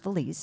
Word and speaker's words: Feliz: happen um and so it's actually pronounced Feliz and Belize was not a problem um it could go